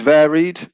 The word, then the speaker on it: varied: If we use varied, then the stress will stay on the first syllable.